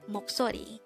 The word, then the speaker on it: 목소리: And then we just have to combine the Hangul for each of these three syllables to form the Hangul of the word moksori.